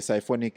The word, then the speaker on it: Psyfonik: The Symphonic, it's spelled as Psyfonik.